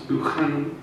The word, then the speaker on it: Buchanan: Writers such as Dunbar, Henderson, Douglas, Sir Walter's own professed favourite, the classicist Buchanan, who I'm told I have to pronounce Buchanan, but that may be a northern thing, readily mixed continental humanist sophistication with vibrant local colour and human detail.